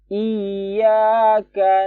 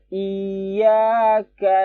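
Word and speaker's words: إِيَّاكَ: Jadi bacanya 2 harokat aja. Iyyaka na'budu wa iyyaka nasta'in. Kesalahan orang biasanya di sini. Ka ini dipanjangin biasanya. Iyyaka nggak boleh. Ka langsung na. Ka itu hanya 1 harokat.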